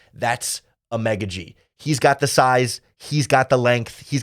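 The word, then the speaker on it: Amegadjie: tackle Kiran egga G we're working really hard on the pronunciation there a a mega G emphasis on the me more like a mega G he is definitely a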